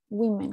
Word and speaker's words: women: O sea, mujeres, el plural en inglés, no es woman's, no le agrego la S, cambia a women, women, cambia las vocales, cambia la pronunciación.